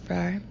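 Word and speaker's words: Fraa: Fra, F-R-A-A, pronounced Frar.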